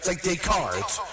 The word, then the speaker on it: Descartes: It's like Descartes. You don't pronounce the S's.